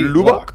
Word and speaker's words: Lubbock: ¿Está bien pronunciado, Marcelo? Sí, ¿Lubbock?